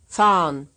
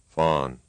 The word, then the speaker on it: fahren: fahren, Here's another word pronounced right and then wrong. Fawn.